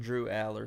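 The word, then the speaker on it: Drew Allar: how you pronounce his name? Drew Aller.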